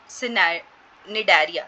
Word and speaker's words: Cnidaria: belonging to the large group of animals called Cnidaria. C is silent, ठीक है.